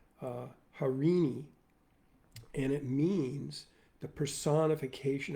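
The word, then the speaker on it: Eirene: So I chose this ancient Greek word, which I'm going to butcher right now, spelled E-I-R-E-N-E, and presumably pronounced Harini, and it means the personification of peace and harmony.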